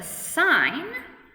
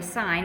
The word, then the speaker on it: sin: out sin or sorry sine we just write s i n some students say sin but it's always pronounced sine so this is sine